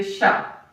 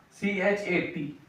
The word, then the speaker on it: chat: In French we say sha. C h a t. In English we maybe we confused as chat because spelling of chat also like this ch h a t chat but in French it's sha.